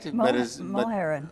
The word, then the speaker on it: Mulherin: Mulherin, yes. Mulherin is how you pronounce it.